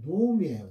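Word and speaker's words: נעמי: 나오미는 이제 한글로 나오미라고 했고요. 히브리어 원어상으로 발음은 노미예요. 노미.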